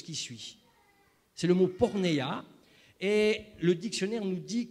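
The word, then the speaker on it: πόρνη: juste sur le dictionnaire c'est le mot grec qui se prononce et forcément quand vous endez porne ça fait penser à porno et tout ce qui suit c'est le mot porne et le dictionnaire nous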